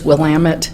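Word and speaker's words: Willamette: this area and remember it is Willam it Dam it that is how they pronounce it I I want you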